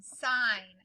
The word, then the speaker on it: sign: that just says side this one has the gn where we only hear the n sign so this is like